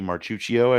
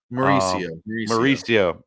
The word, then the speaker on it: Mauricio: Ronnie Marchuccio, I believe is how you say that. Mauricio.